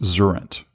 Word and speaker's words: Xurrent: So like current except with an X and it's pronounced like Xerox Zurent, if you will.